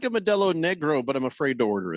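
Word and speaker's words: Modelo Negra: I say I I when I order a I I say it right. I say Medel Negro. Yeah. A little R roll on the R. I think helps.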